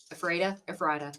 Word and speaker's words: Ephrata: Ephrata, potato, It's patata. We Ephrata. saw 8 Ephrata. different pronunciations.